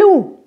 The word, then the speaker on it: loue: je prononce loup je loue je ne prononce pas le E tu loues je ne